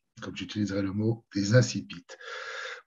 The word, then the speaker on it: incipits: On va parler des incipits, ou plutôt, comme j'utiliserai ce soir, comme j'utiliserai le mot, des incipits. Pourquoi je préfère la prononciation française?